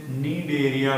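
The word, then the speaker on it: Cnidaria: जाना जाता है इसे नीड एरिया भी कहा था है नींद एरिया ठीक है आधी हेयर ऑइल है क्या यहां पर नींद दे दें सी साइलेंट होता है ऐसा नहीं आप स्किन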